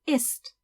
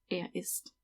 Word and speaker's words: isst: And as you can see, it's the same pronunciation as in to be. Sie, es isst. Sie, es isst. You can't hear that there's an extra S, so you just have